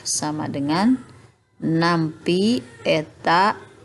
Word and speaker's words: eta: viskos ini, koefisien fluidanya disebut eta, seperti huruf N itu dibacanya eta.